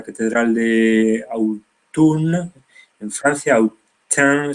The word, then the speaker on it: Autun: Esto es un retablo de la catedral de Autun, en Francia, Autun se pronuncia o algo parecido, donde vemos de nuevo que la balanza no es un símbolo tan neutro como nos cuenta el pensamiento dominante, ¿no?